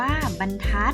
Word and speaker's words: บรรทัด: เพื่อ ขน ย้าย บรรทัด ออก เสียง ว่า บรรทัด อ๋อหมาย ถึง เรียก เส้น ที่ ตี หรือ พิมพ์